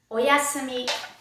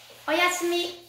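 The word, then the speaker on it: おやすみ: night whenever you go to bed you say oyasumi oyasumi next we have a special greeting before we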